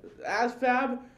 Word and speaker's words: ASVAB: ASVAB, by the way, pronounced as fab, is very important.